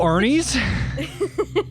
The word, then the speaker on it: Arne: a couple Aries but it's spelled a R NE e it's not spelled didn't ask but it threw me off it took me a second to realize that his name is just Arie just spelled differently well